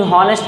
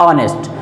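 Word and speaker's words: honest: जैसे आपने कह दिया राम इज ए हॉनेस्ट बॉय, तो असल में वो कभी भी हॉनेस्ट नहीं होता, बल्कि क्या होता है, ऑनेस्ट।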